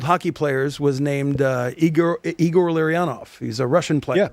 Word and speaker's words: Larionov: And he wrote Larry-on-off. Okay, good. Igor Larionov. Oh, so he nailed it.